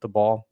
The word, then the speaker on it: Daboll: From hearing rumors about Daboll? Is that how you say it? Daboll? Daboll.